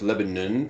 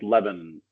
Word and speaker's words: Lebanon: I don't know why, but it's Lebanon, PA. It's more mumbled like Lebanon.